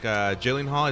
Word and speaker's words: Gyllenhaal: This is with Jake Gyllenhaal. Is that how you pronounce it?